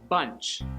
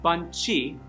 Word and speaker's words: bunch: It's bunch, not bunchy. Bunchy? No. Bunch. Just one. Bunch.